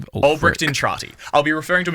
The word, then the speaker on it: Entrati: An orkin by the name of Art Entrani. Albert Entrani. I don't know why I have a pronunciation guide but I wrote it before I'd